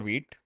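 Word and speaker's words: Vite: you can see so I used to pronounce this white for quite some time and then I realized it is wheat so that that is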